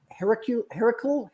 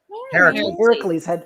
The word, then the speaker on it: Heracles: I had no idea it was Heracule. How do you say it? Heracles.